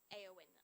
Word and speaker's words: Eowyn: is it eow yes there it is pronounced a win aoen okay thank you everyone